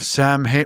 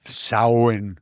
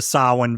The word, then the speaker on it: Samhain: The festival of Samhain. Samhain, everyone. Dr. Loomis. And I think full of you have an Irish actor here, so he's probably like, I am not pronouncing it Sam Hain.